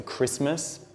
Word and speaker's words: Christmas: silent so we've got common words like Castle the T is silent also Christmas we've got often which